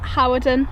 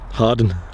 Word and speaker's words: Hawarden: manchester how are we all doing we're at howard and at the minute harden harden harden it's pronounced we're in wales we're in north wales